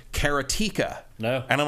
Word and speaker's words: Karateka: That's the Making of Karateka.